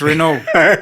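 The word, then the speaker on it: Renault: mtas which is R not not Reno you call it Reno when you pronounce it yeah when you say it in French it's Rena but oh we we are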